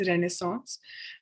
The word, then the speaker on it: Renaissance: Now Renaissance, ये जो word है, this is pronounced as रेनेसांस.